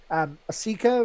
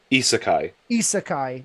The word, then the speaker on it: isekai: The easiest way for Japanese pronunciations is that like when you have an I at the beginning, it's always pronounced E.